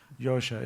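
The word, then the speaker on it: Jozsa: algorithm anybody Hungarian here I need to know how to pronounce Yosha is that correct yeah Joe Joe Joe Joe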